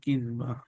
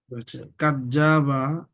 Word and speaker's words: كذابا: الله كذابا متفق عليه কাজ্জাবা, জিম না কিন্তু, কাজ্জাবা এরকম উচ্চারণ হবে না। দাল, জালের উচ্চারণটা পাতলা হয়। কাজ্জাবা, জিম হইলে তখন ঠিক ছিল। কাজ্জাবা, কাজ্জাবা না। কেমন হবে উচ্চারণটা? জালের উচ্চারণ যেহেতু পাতলা হয়, তো উচ্চারণ হবে কাযাবা।